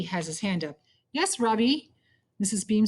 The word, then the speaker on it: Ravi: his hand up yes ravie Miss beam says I notied she says his name right for the first time with the accent on the second syllable could you tell please